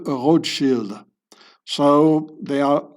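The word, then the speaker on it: Rothschild: Also this road shield I pronounce it the original German way. Shield here it means a shield and rot it means red the red shield.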